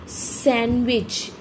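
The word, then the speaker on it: sandwich: सैंडविच, normally हम इसको सैंडविच बोलते हैं, पर इट्स नॉट अ सैंडविच, इट्स अ सैंडविच। जो ड है वो यहाँ पे साइलेंट है, स ए न व ई ज, सैंडविच।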